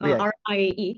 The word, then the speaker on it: Rie: My name is Rie, R-I-E.